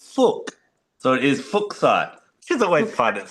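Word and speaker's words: fuchsite: Now I've always had fuchite but then recently I believe that the guy who found it surname was actually pronounced fukk so it is fuksite cuz always find it like saying kind of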